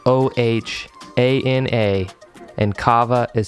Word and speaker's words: kava: means family and it is spelled o-h-a-n-a and kava is spelled k-a-v-a you can order directly from their